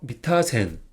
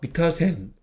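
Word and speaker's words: 三田線: 이거는 석삼 이거는 바천 그래서 석 3은 덕으로 미라고 읽어요 그리고 바자는 덕으로 타라고 있습니다 그래서 미타 센 한번 읽어 볼까요 미타 센 미타 센네 그러면 다시 이거는 석삼 이거는 과점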